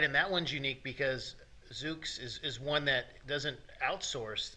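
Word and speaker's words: Zoox: So it's a Z-O-O-X, I think is how Zooks. It's spelled. Okay, that's Zooks. Easier to say once I can mentally picture it.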